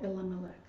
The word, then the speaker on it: Elimelech: Oh, Elimelech.